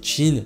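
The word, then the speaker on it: Qin: corrige sur la prononciation de l'état de Quine dans Kingdom qui se dit Chine assez bon les gars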